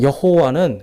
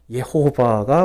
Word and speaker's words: 예호바: 그래서 여호와는 그냥 우리나라로 번역하는 가운데 나타난, 이렇게 번역하면서 생긴 거고요. 원래는 예호바가 맞는 발음입니다.